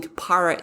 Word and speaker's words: PARA: And so this system, I pronounce it PARA system. I'm not actually sure how you pronounce it, but it's P-A-R-A.